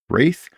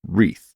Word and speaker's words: Wraith: And it pronounced it wreath. And that is so ingrained in my head now that I have just given up. And I will pronounce it that way. You can pronounce it however you want. I still think of it as wraith, but when I say it, I say wreath.